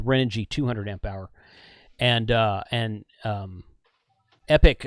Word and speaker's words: Epoch: Prior to that, I was running a Renogy 200 amp hour, and Epic, I think it's pronounced Epic, but it's spelled Epoch.